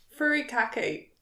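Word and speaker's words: furikake: lasts longer um it's I have to try and pronounce it furry Kaki fur okay um f let's call it furry khaki it's not F I was saying it right earlier furry cake it's Japanese anyway so my I'm a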